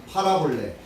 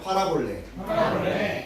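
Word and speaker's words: παραβολή: 파라볼레. 예, 같이 한번 해볼까요? 파라볼레. 예, 뭐 그런 뜻은 아니지만 여기에 있는 물컵을 팔아볼까? 팔아볼래. 볼까요? 같이 합니다. 팔아볼래. 예, 무엇을 판다는 뜻이 아니라 발음이 그렇다는 거예요.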